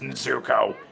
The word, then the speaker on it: Nezuko: pronounced Nezuko.